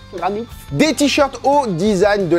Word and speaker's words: Graniph: Ball Z, Dragon Ball, une collaboration avec Granit, c'est comme ça que ça se prononce, Granit.